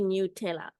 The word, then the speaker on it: Nutella: dreaming about it but I remember specifically seeing like the person who invented it saying it's supposed to be new tayor but for me it's